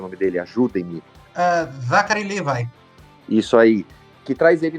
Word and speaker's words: Zachary Levi: O Zachary Levi, como que se pronuncia o nome dele? Ajudem-me. Zachary Levi.